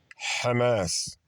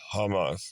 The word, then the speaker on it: Hamas: the Israelis and then some of them try to say the ha instead of the actual letter but uh let's move